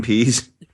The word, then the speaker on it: Pees: Oh, Dean Pease. No. I didn't ask you to describe a situation. What's his name? His last name is spelled Pees, which is too bad.